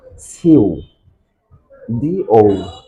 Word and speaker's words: pseudo: to the correct pronunciation, if P letter and S letter is starting joined together first of any words, then the sounds of P letter must be silent.